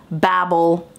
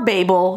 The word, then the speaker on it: Babel: I really wanted to read Babble or Babel depending on where you live and how you pronounce this I think this